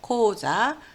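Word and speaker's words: 口座: 예, 은행 계좌를 나타내는 말은 고자라 그럽니다. 계좌, 고자.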